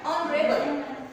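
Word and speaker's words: honorable: का यूज हो गया, क्योंकि जो ये इसमें एच जो है वो क्या हो गया, म्यूट हो गया, कहने का मतलब एच साउंड हो गया, और साउंड की जगह हमने इसको एच से तो स्पेलिंग स्टार्ट हो गई बट इसको हमने प्रोनाउंस किया ऑनरेबल।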